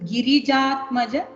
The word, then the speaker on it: Girijatmaja: When you sing Girijat Maja, that pronunciation should be proper.